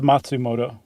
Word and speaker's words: Matsumoto: Seicho uh Matsumoto, yeah? Yeah. All right. And it was called Tower of Waves. I always depend on you for Japanese pronunciation. Well, then technically it's Matsumoto.